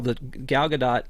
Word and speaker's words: Gadot: of her last name it's not Godot because she's not French and it's not a silent t on the end but um she I